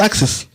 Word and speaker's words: AXYS: s africa axis oh it's pronounced axis that's what i call it oh a b axis